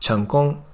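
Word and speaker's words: 成功: In Chinese, it's pronounced 成功.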